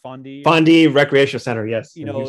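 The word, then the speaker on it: Fonde: Is it pronounced Fondi? Fondi Recreation Center, yes.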